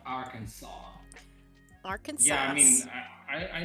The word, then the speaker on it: Arkansas: Arkansas is pronounced Arkansas.